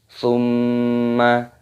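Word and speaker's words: ثم: Thumma. Di sini terdapat mim tasdid, hukumnya dibaca gunnah. Cara membacanya yaitu berdengung.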